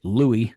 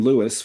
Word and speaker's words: Louis: Uh and um it was always spelled L E W I S and uh always pronounced that way by everybody that knew him.